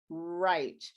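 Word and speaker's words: write: very nice for you the only exception is when it's represented by the wr and the w is silent uh like in right it's not like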